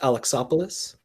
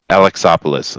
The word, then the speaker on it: Alexopoulos: It's pronounced Alexopoulos. Alexopoulos.